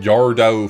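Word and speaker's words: Yardrow: In Yardou Fort City. That's how it's pronounced. That's the technical pronunciation, by the way.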